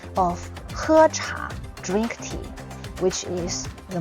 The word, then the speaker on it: 喝茶: So, 喝茶, 喝茶.